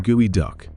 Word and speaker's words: geoduck: might raise an eyebrow geoduck pronounced gooey duck this isn't a cartoon